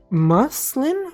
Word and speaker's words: muslin: We pronounce muslin with the U, like in up muslin?